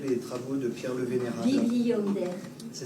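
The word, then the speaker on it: Bibliander: Bonder, ça s'écrit comment ?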